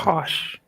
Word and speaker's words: Koch: You're mispronouncing it. It's Oh. Koch. Kosh.